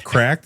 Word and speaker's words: CRKD: If you guys rewind, you're going to hear me gasp when he says Cracked, and I go, "Huh, that's how you say it?"